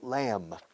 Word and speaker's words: lamb: Cordero, lamb. B muda al final, lamb. Se escribe lamb. B muda, repito. Lamb, lamb, lamb.